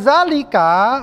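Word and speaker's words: ذلك: Zalika juga begitu aja. Nggak perlu pakai alif sebenarnya. Jadi itu udah dikenal dalam bahasa Arab. Zalika itu seperti itu. Mau kita kasih harkat begini atau berdiri sama saja. Ya. Yang penting orang-orang dan kita tahu kalau zalika bacanya panjang.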